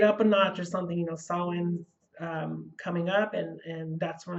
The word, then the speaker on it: Samhain: As many witches, one of the things I always look forward to is Samhain, which is Halloween, or Samhain, the way you pronounce it.